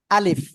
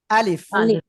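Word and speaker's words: ألف: কি নাম সবাই বলেন আলিফ ওকে এই আলিফটা হলো মুখের খালি জায়গা থেকে উচ্চারণ হয় কি বললাম মুখের খালি জায়গা থেকে আপনারা মনে রাখবেন আর এই আলিফে কোন টান নাই ঠিক আছে আলিফ ওকে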